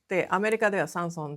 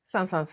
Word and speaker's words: Saint-Saëns: In US, Saint-Saens sounds like Sanson (pronunciation) . Well, in Japan they call him Saint-Saëns too as we were talking, he said that in France, or rather in Switzerland the pronunciation is Saint-Saëns, and if you say Sanson, it means five cents, so it would mean